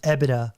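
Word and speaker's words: EBITDA: Um, it's pronounced EBIDA, but I always get the letters wrong.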